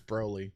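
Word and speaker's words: Broly: mean there you go also saying his name wrong it's braylee braylee yeah i always thought it was Brawley cuz it sounds like he's brawling right well I mean the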